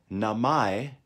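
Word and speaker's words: 名前: Watashi no means my namai almost sounds similar to the English word name so when you write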